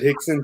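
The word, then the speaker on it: Hixson: units of hand sanitizer like the guy in Hickson, Tennessee did? I missed out. Okay, that's what I want. I missed the book. I got to pull that up. Yeah. You said Hickson, Tennessee.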